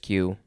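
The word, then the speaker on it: queue: e q it looks like it should be pronounced q u q e q q e but it's just q this is french so yeah it is from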